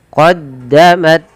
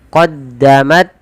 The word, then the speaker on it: qoddamat: Kemudian qoddamat qoddamat aidihim qoddamat. Nah, di sini tidak boleh memantulnya tanya. Misal qodamat aidihim ta ya misalnya memantul atau menggantinya dengan huruf sa misalnya qoddamat. Qoddamat terlalu banyak ya cukup.